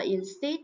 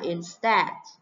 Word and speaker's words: instead: Ok, các bạn không được đọc là instead nhé. Instead là sai nhé. Từ này các bạn phải phát âm là instead.